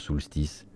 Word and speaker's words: Soulstice: Soulstice. préfère le prononcer comme ça, hein, sinon vous allez pas le retrouver.